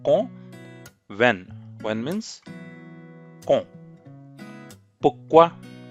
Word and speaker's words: pourquoi: पुक्वा. यहाँ पे र भी साइलेंट है. पुर्क्वा भी बोलते हैं but doesn't sound very French.